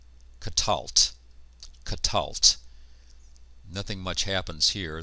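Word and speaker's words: קָטַלְתְּ: The ending here is just a tav with a silent schwa underneath it. And so we end up with katalt.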